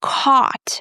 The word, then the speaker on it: caught: The next word, caught. The past form of catch, right? Caught. Again, it's not coat and we pronounce it just like the word caught. Repeat the next words after me.